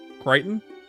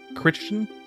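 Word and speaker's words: Crichton: Do you not know that that's how his name is pronounced? Kiteon. You thought that was Christian or something?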